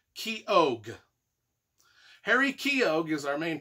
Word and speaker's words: Keogh: a fellow named harry keogh i don't know how you pronounce it it's spelled k e o g h k-e-o-g-h key og harry keogh is our